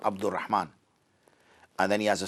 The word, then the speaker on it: Abdur Rahman: Abdur Rahman is a single name, even if, as we call it, is double barrel. Is in, all it is because it's Abdur Rahman. It's only 2 syllables or 3 at best, okay? So that's just one name. People think Abd is one name and Rahman, so they put Abdul or Rahman. Abdul is not a name.